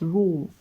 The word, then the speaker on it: rho: Density is denoted with a Greek letter pronounced as rho.